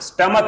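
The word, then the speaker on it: stomach: स्टमक बिना स्टमक स्टमक स्टमक उच्चारण है इसका स्टमक यानी पेट बिना पेट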